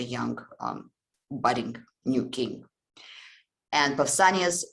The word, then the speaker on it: Pausanias: always very friendly, but it is Pausanias, I think it's pronounced in English, Pausanias, who is actually the